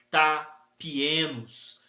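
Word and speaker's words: ταπεινός: que a pronúncia em português é tapienos, que traz o sentido de literal, que significa não ser levantado ou longe do chão.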